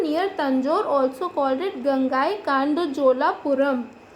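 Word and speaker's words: Gangaikonda Cholapuram: Tanjore, also called it गंगाई कांडोजोलापुरम. अब ये काफ़ी बड़ी स्पेलिंग है तो आप इसको ब्रेक करके पढ़ सकते हैं आराम से. गंगाई कौन डा चोला. तो अब कितना इजी हो गया.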